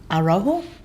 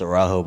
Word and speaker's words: Araujo: Coca-Cola Scholarship goes to Arrojo. Did I say that right? I thought y'all were clapping for me because I pronounced it right. It's Araujo, by the way.